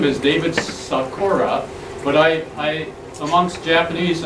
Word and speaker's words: Sakura: My name is David Sakura, but I amongst Japanese, I'll pronounce it the Japanese way, which is Sakura.